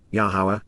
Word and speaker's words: Yahowah: give meaning to life yahwah yahwah the proper pronunciation of the name of Ilah God has directed in